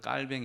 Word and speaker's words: 칼뱅: 를 부른다면 그런 좋은 칼빈 입니다 존 칼빈 여러분 존 칼빈 선생님 요즘 프랑스식 발음을 하면 그 그 장 깔 뱅 이라고 깔 뱅 이라고 요즘 그렇게 많이 부릅니다 여러분 그 원래 루터란